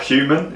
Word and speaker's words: HVMN: But the proper HVMN or human, is that how you say it? I think it's like human, but I forget the order.